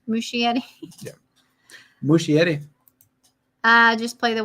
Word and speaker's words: Muschietti: Muschietti. Muschietti.